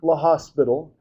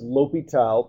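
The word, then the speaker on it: L'Hôpital: Um it's it's not la hospital. Um you pronounce this liital. People will look at you funny if you say la hospital although there are some pneummonic devices you can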